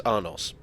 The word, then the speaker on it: Arnos: as I see it there's no apostrophe or e at the end so it's arnos and in the event